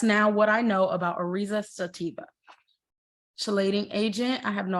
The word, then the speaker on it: Oryza sativa: So Orzo sativa, let's pronounce it. Oryza sativa.